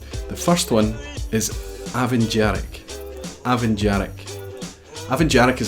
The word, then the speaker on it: Dearg: The tough one here is Dearg because there's a hidden syllable between the R and the G at the end, or the R and the K sound. So you don't just say Dearg, it's Dearg.